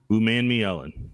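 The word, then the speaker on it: Umanmielen: to be from Old Miss princ Ley um man me Ellen man me Ellen that's what it is pronunciation K uh prin Ley has a size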